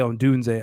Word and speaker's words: Odunze: Yeah, Odunze.